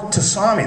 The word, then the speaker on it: tsunami: See, like Philip, Phil, it should start with F, I would think, but PH or Tsunami, that's a real dandy. Tsunami starts with a T.